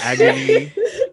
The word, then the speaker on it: Agon: Agon. I say it like agony without the Y.